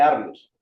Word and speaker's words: Arrio: a estos hombres nuevamente porque creo que lo pronuncié mal. Allí se combate Arrios, el creador del arrianismo.